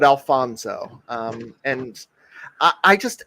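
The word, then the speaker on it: Alfonzo: Yeah, not Alonso, but Alfonso.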